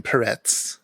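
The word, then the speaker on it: Perec: but his name was originally Perez the C pronounced in the Polish way he was the only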